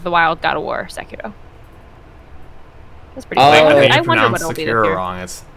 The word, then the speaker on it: Sekiro: Overwatch, Breath of the Wild, God of War, Sekiro. That's pretty Oh, I cool. think I you wonder what pronounced it'll be this Sekiro year. wrong. It's Sekiro.